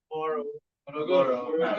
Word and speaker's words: Morogoro: We thought there was a city in Tanzania called Morogoro, but apparently it's Morogoro. It's not Morogoro. You have to hear, can I say it very well? Morogoro. That's how you say it.